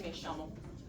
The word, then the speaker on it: me llamo: My name would be me llamo, but they would say me llamo. So me llamo. But it's pronounced sha.